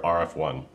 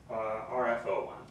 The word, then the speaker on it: RF01: Is that how you say it? RF01 or RF1? RF01. Okay.